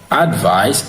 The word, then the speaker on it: advise: Advice is spelled A-D-V-I-C-E. Advice is spelled A-D-V-I-S-E. Advice is stressed in the first syllable, advice, while advice is stressed in the second syllable, which is advice.